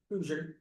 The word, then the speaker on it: Kuzior: Kuzi, is it pronounced Kuzior? Hoosier. Kuzier, all right.